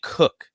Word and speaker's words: Cook: Sam Cook. Cook. Yeah, it looks like Koch, but it's Cook.